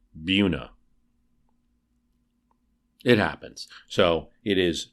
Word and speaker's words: Buena: have another town that's in spanish which has rules of pronunciation should be buena but it's pronounced buna it happens so it